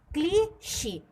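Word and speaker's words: cliché: Accent लगाया हुआ है, तो इस ई को हम और आप बहुत ज़्यादा स्ट्रेस करके बोलेंगे। ठीक है, इस हम अपने प्रोनाउंसिएशन को, यानी कि हम और आप अपने उच्चारण पर बहुत ज़्यादा प्रभाव डालेंगे, दबाव डालेंगे और उस शब्द का उच्चारण हम एक के शब्द से करेंगे, यानी कि हम इसको क्या बोलेंगे? क्लीशे।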